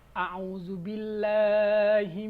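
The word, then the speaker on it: أعوذ بالله: Ini ain bukan alif, jadi a'u. Bukan a'u. Dibaca a'u. A'udzubillahi minasyaitonirrajim.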